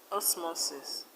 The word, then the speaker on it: osmosis: Words like diagnosis, osmosis, kurtosis, stress the second syllable from the end. In diagnosis, the stress is on NO. Osmosis, the stress is on MO.